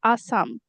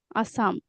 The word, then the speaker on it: Assam: The pronunciation is hard. Akom, Pro- akom. অসম, yeah, অসম. But in English, Assam, Assam, And the language is Assamese, right?